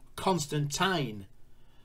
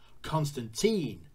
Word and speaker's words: Constantine: there lies the rub Almar is British like myself and we say Constantine however being a American production they bump for the North American pronunciation Constantine thus changing the pop culture pronunciation forever as it demonstrated in